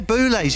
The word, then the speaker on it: Boulez: And you didn't pronounce his name correctly. Carry on. Oh, Boulez. I should have said Boulez. Yeah, Boulez.